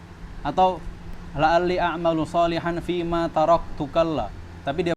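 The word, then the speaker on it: تَرَكْتُ: Atau la'alli a'malu salihan fima taraktu kalla. Tapi dia bacanya apa? Tarakta.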